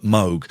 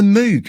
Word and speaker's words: Moog: It's MOOG, invented by a man called Robert Moog. People pronounce it as the Moog. The Moog. Yeah. So I spent ages finding an interview with Robert Moog where he says his own name, so I could play it to people.